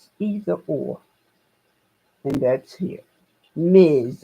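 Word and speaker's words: Ms.: Ms perod is either or and that's here Miz it's pronounced Miz okay so oh I'm going to write a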